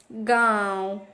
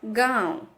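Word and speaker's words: गाँव: और अनुनासिक, जिसका उच्चारण चंद्र बिंदु से होता है, गांव, ये शब्द आया है जिसमें हमें चंद्र बिंदु दिखाई दे रहा है, गांव।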